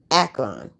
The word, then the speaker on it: Akron: I gave her the details, she gave me her blessings, and 2 days later I arrived in Akron, that's how you pronounce it, by Greyhound.